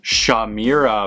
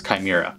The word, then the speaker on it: chimera: are trapped in it Rita's evil shaw mira monster because no one on this writing staff knew how to pronounce chimera Zach Morris he shows